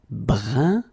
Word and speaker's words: brun: Then another example. Brun, brun. Okay, fin. Brun, fin. So you write it differently, but then you pronounce it like the first one. It's un, un, okay?